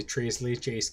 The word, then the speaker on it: tres leches: And they just did a tres leches cake, and I wanted to show my version of it. So basically, we have, you know, tres leches, or tres leche is the proper pronunciation, is three creams.